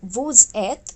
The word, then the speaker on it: vous êtes: first letter of eth, are linked together and are pronounced like Z. So we have vous êtes, ils sont, they are, elles sont, they are.